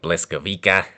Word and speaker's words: Błyskawica: But one helpful tip to remember is that you see the L, it's not actually an L, it has a cross through it. And you actually pronounce it like you would a W. Google, it is your friend. So keep that in mind. It's not an L, it's a W.